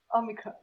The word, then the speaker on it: Omicron: whole Omicron variant because no foreigner pronounces Omicron properly. Of course not. So it's like, all the variations. Omicron. Omicron. No, it's Omicron. Omicron. It has to be super flat.